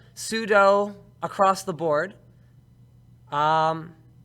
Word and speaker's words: sudo: want to pronounce itse sudo so which one do you use when talking about the command CU like so there you go no one's wrong I know it's super user do but like look at